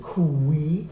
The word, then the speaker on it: qui: And then qui, once again, the two sounds, but it gets really quickly to the second sound.